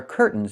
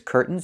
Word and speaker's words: curtains: This word has two pronunciations. I can say curtains or curtains. But don't say curtains. It's curtains with a real T. Curtains. Or I can use a stop T and say curt. Stop the air. Put the tongue up. Curtains. And go directly to the N. Curtains. So curtains or curtains. Both pronunciations are correct.